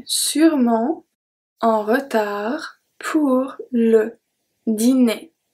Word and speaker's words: sûrement: Je serai sûrement, sûrement. So here, the only thing is that don't forget that we do not pronounce the E in the middle. That's very important.